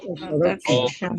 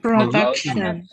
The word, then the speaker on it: production: Remember pronunciation of the letter U, people? Did we say? Production. The cost of production. There you are. There you are. Production. Exactly. Production. Remember, pronunciation with you is not similar to Spanish, right?